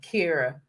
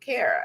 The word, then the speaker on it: Kara: Drop the anxiety because people have always mispronounced my name. It's four letters, but Right. I grew up with my friends calling me Kira. And then when we got to around middle school, high school, I started telling them, guys, you pronounce it Kara.